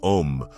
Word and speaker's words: Om: If you are chanting om, pronounce it in three parts a, u, and m.